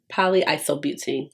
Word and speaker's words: polyisobutene: Because I'm like, is that how you pronounce it? Polyisobutene. There we go. I was like, come on, break it down. Get your root words, okay?